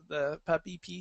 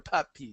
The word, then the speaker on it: PupPee: any other things that you want to talk about it, about the PupPee station, or PupPee station, not puppy? Well, it depends on how you say it.